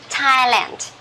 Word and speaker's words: Thailand: uh okay the country so uh we don't pronounce this one as thailand this is tea okay thailand one more time so number one this is